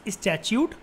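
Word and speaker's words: statute: स्टैच्यूट। इसको ऐसे ही बोलते हैं, द प्रोनाउंसिएशन इज स्टैच्यूट।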